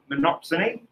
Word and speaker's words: monopsony: day figured it out monopsony which again does sound like the banana song exactly yeah here we